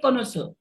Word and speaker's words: connoisseur: कॉनसर, CONNOISSEUR, इसको हम pronounce करते हैं कॉनसर।